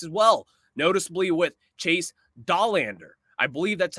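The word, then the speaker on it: Dollander: of top prospects as well noticeably with Chase dahlander I believe that's how you say his last name a lot of people have pronounced that name differently over time that's a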